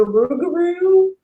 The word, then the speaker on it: rougarou: Now it's the rougarou. Rougarou. Or it's pronounced, some people say rougarou, but for the most part, I think it's rougarou. Okay. And it can be pronounced either way.